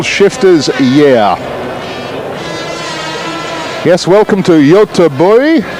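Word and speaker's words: Göteborg: yeah yes welcome to yota boy that's my attempt at a swedish pronunciation of gothenburg i apologize to scandinavia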